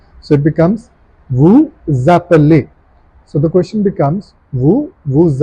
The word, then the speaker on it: vous appelez: Now this S will be pronounced with appelé and the sound becomes Z, like a Z. So it becomes vous appelez.